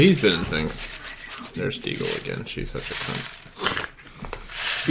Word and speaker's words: Deagle: Did you know that Deagle rhymes with evil?